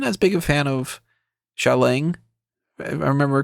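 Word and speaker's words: Xialing: now I wasn't as big a fan of shalang if I remember correctly that's how they pronounced her name wasn't as big on her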